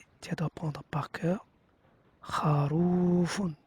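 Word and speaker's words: خروفٌ: Et donc dans la première page, tu dois prendre par cœur kharoufun. Tu le prononces de cette façon-là. Et je te dis ma hada, c'est quoi ça?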